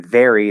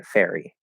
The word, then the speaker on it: very: of f right so instead of saying very they end up saying fairy fairy um what you want